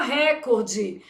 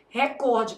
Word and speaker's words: recorde: Deixa o povo falar recorde. Isso aí é bem tranquilinho. Só na sua prova que você precisa saber que o certo é o quê? Recorde, porque essa palavra é paroxítono.